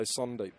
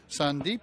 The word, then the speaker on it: Sandeep: I think it's Sandeep, but uh I have been told maybe this guy's trying to stitch me up and say Sundep.